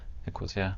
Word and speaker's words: Ecosia: There was a person, RT, who were doing this with you, and then he connected you with people from Ecosia. Did I pronounce it correctly? Ecosia, the Yes, company.